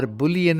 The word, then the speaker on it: bool: as we studied in primitive data type 'bool' pronounced Boolean and void is also there Let us see